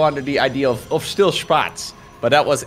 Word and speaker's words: Spatz: It's technically the same pronunciation, but I can imagine in the past, before he added the T, a lot of non-Germans would be pronouncing it as Spaz.